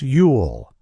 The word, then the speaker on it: you'll: When we form a contraction, it becomes you'll, spelled Y-O-U''. When pronounced clearly, it sounds like this. You'll. Notice how distinct the words are. You hear both U and the connected LL sound.